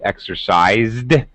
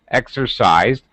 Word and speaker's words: exercised: his pronunciation was good exercised now here we have an s in exercise uh but it's pronounced as a z z is of course